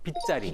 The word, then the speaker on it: 빗자리: 빗자리. 빗자리. 순한글. 빗자가 한자가 없잖아요. 그래서 빗광자를 써놓습니다. 그래서 저는 광자리라고 쓰고는 읽을 땐 빗자리라고 읽는 거예요.